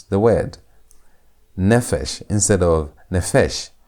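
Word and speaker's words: נפש: Notice that the P is a begat kafat letter and beat kafat letters are supposed to have a desh a dot for them to maintain their normal sound. P is supposed to be pronounced as p sound. P sound. But when it's not having the the is going to be pronounced as f sound.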